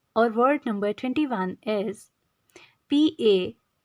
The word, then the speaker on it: panegyric: In segment of vocabulary building, our word number 21 is P-A-N-E-G-Y-R-I-C. The pronunciation of this word is panegyric. P-N-J-R-I-C. Panegyric.